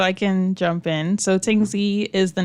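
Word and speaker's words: Tingsea: sbdc sure so I can jump in so Ting Z is the name of our platform Ting spell that for us t i n g s e a okay so not the Y mhm oh tingy oh you know you like Tings so yeah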